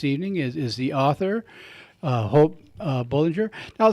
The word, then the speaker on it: Bolinger: is the author, Hope Bolinger. Now, say it correctly, the proper pronunciation. Bolinger, so it's like you're going for a game of bowling, and then there's like a tiger at the end of it.